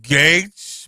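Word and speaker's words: Gaetz: All right, Matt Gatz, last name is pronounced Gates, B, says the texter.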